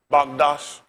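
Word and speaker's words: מקדש: Magdash. How you pronounce it?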